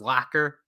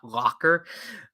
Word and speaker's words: lacquer: sister apparently told me it's pronounced as lacquer not Locker uh the side Chic